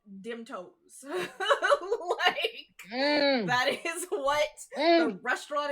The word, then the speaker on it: Demtoes: Yeah, they're straight up a Cajun restaurant run by a Rougarou, and it's called Dim Toes. That is what the restaurant is called. It's called Dim Toes.